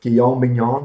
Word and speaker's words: Guillaume Bignon: Guillaume Bignon.